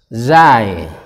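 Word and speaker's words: زاي: atas namanya huruf Zain Zain Zain memakai huruf z bukan huruf j tetapi huruf z karena memang bunyinya menjadi Zain Zain Zain nah seperti itu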